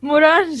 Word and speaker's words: Morange: It's rhyming with orange. Yes. Perla. Morange, yes, very good, Perla.